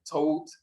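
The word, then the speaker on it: Thout: Now, as you can see here, the first day of Tot, that's how it's pronounced in Coptic.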